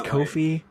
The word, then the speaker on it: Ko-fi: our Ko-fi, as I've learned, is how it's pronounced, and I don't like it. Apparently. It's Ko-fi.